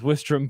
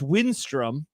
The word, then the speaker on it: Winstrom: have been filled with westram Peter Bros Frasier and the rest of the grace it's pretty obvious yeah I I will correct you though Jed it's it's winstrom and Frasier is not